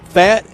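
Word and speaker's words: Pfaadt: history tonight Suarez against fat and about is it fat or fought how does he pronounce it fought I think like like I fought the law and the law one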